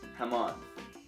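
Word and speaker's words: jamón: much as listen pronunciation the J in Spanish sounds similar to the English letter H in the word hello hamon M this is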